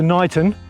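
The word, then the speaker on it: Niton: So we're walking across this field and then dropping down into Knighton, which is spelled N-I-T-O-N.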